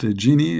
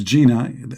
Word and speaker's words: genie: it to Export Import genie you know call 1-800 Dini okay remember you know you have to pronounce the word genie correctly that don't don't think it's Gina you know you will